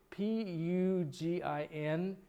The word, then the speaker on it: Pugin: This is a plate by, I can't pronounce the guy's name, but Tom will correct me, Tom. P-U-G-I-N.